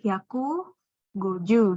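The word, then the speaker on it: 百五十: 150 itu kan terdiri dari 100 sama 50. Nah, 50 dalam bahasa Jepang, cara bacanya itu dari 5 sama 10, bukan 5 tambah 10 di sini ya. Cara baca Jepangnya 5, go, cara baca 10, ju gitu. Jadi goju. Nah, ditambah 100 di depannya, hyaku. Jadi hyaku, goju gitu.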